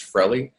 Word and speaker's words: Frelly: Just for clarification, my last name is pronounced Frelly, like I used to say in elementary school, like jelly.